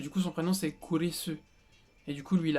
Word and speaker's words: Kurisu: En fait, kurisu, ça ressemble à Chris. Vous voyez, kurisu. On entend un peu le Chris.